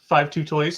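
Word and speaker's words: 52Toys: It is 5-2 Toys. I got yelled at by somebody one time in one of my videos in the comments. That's not 52 Toys. It's 5-2 Toys.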